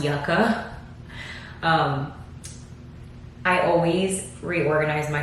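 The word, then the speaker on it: Yucca: the Natasha denona yaka I want to say Yuka because Yuga is a root that I love eating I think it's called casava um in English but Yuga is delicious this is pronounced yaka um I always reorganize my palettes in a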